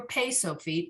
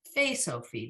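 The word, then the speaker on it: פא סופית: Pei with the dot in the middle, Fei without the dot, Fei Sofit, which it's never Pei Sofit, it's always Fei Sofit. It's always a PH sound at the end.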